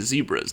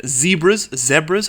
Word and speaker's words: zebra: Now we do have a bunch of zebras down here. Zebras, how do you say it? I say zebra, but I know Americans say zebra, which is just so weird to me, because it's, you